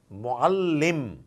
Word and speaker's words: mu'allim: So had it been shad, it would have been mu'al. That's it, nothing else, mu'al. But it's not shad. It's shad, but followed by a push. Mu'allim, mu'allim.